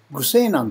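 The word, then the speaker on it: 虞世南: 愚西南と読みます。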